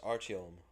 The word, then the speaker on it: Artyom: Tunahan versus Artem. I think it's pronounced Artyom.